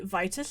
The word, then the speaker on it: Vitus: and it would say Vitus here i'm prolly getting your name wrong Vitus no that is right and it would say